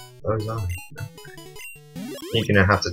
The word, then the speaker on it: Ozai: It's like, oh hi, but, you know, Z instead. It's in Bill's PC. Well, you can do, like, in between the... next episode, bring obviously Ozai back into it and